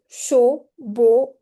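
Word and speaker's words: chaud: If you have you know uh the combination AU has O sound and E AU also have O sound. Right? So for example show o and gate sorry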